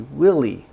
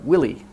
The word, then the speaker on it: Willy: and it should be Willy first the stress is on the first part but she pronounced both